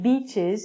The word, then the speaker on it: beach: Now, a lot of people have problems saying this word, beach, because it sounds like bitch.